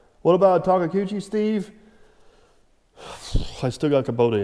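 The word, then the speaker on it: Takeuchi: is correct what about takakuchi steve i still got kubota engines wait a minute you just said it properly on video that's not how you say it often you talk about the taco cuccis so all right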